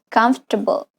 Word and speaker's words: comfortable: The OR after F could be pronounced with a schwa sound. Comfortable, comfortable, comfortable. You link directly to F to the T.